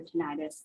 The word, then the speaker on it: tinnitus: of hearing loss so if someone has tinnitus or tinnitus either pronunciation is correct we do recommend